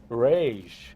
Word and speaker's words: Regis: in portuguese yes and the last name would actually be pronounced rage okay so the portuguese